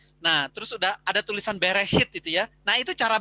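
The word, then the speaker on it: בראשית: rada aneh gitu ya ya bacanya itu adalah beres hit Hai Bara Elohim Hai FH main BF haaretz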